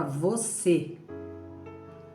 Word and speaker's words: você: Exemplo da palavra você. Você, com acento. A sílaba forte é o C.